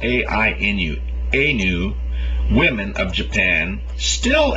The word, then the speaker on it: Ainu: This word is spelled A-I-N-U, Ainu.